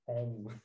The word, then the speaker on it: homme: And the word for man is, I guess this is pronounced om, right?